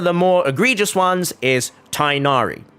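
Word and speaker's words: Tighnari: egregious ones is tinari it's really not anywhere near tainari but it's closer to tignari and I know I'm not pronouncing that correctly because I can't speak Arabic but the thing is that is as close as in English you can get to it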